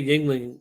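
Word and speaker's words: Yuengling: And you wouldn't say Yingling if you saw how it's spelled either. No, it says Yong Long.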